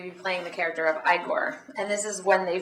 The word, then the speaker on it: Igor: ah master so you must be eore no it's pronounced igore well they told me it was pronounced eigor well they were wrong then weren't they anyway did you know